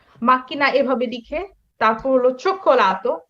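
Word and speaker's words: cioccolato: এখানে কিন্তু খেয়াল করবেন চোক্কোলাতোটা, হ্যাঁ চোক্কোলাতোটা আমি কিভাবে লিখেছি, চি ও ও চি ই ও চো খো, এখানে আমার উচ্চারণ কিন্তু ভিন্ন, চ খো, হ্যাঁ চো খো, একই শব্দ উচ্চারণ দুইটা কিন্তু ভিন্ন, চোক্কোলাতো।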